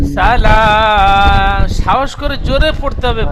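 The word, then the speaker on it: سلام: সালামুন হিয়া হাত্তা মাতলাইল ফাজর। সালাম খাড়া যাবার এক আলিফ টান দিয়ে বলেন সালাম।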